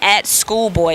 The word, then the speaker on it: Skoolboye: And don't forget to @Schoolboy, and it's spelled the right way. SKOOLBOYE, like boy.